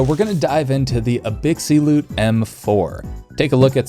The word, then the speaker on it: Abxylute: Both of these controllers were sent over by Abxylute, pronounced Abxylute, for review.